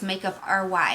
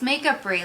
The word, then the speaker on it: Makeup Free: They think it's makeup RY and I'm like, no. They're like, makeup rye? No. It's makeup free, like artistry, makeup free.